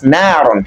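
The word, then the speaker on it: نارًا: We can say narun, it is narun originally, but here it is appearing as the object of the sentence, which you mean by maf'ulun bihi. That is why it is pronounced as narun.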